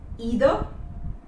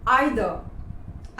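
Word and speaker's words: either: not towel towel towel अगला word है ईदर know आइदर आइदर इसका मतलब होता है कि या तो मैं या फिर कोई और आइदर मी और my friend Natasha would be coming to द party वो होता है आइदर नॉट इदर अगर यू हैव फाउंड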